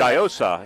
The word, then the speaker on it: Giosa: Giosa is how you say it.